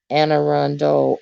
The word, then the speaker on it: Anne Arundel: get your next next best version oh it's pronounced and anne arundel oh okay is that always pronounced okay and